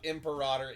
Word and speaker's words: Imperator: Imperator is the proper way to pronounce that word. It doesn't look right and it doesn't sound right, but that is how you pronounce the word.